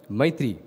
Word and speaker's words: maitri: Many a time swami used to refer to a Sanskrit term maitri which he beautifully separates into two syllables that is my and three which means the three different periods of time.